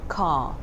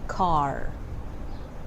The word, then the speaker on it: car: of them for example this word is pronounced ca and that's very different from american accent and they tend to pronounce it like car car you need to get